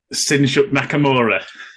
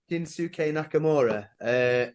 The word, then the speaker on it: Shinsuke Nakamura: Sinshuk Nakamura.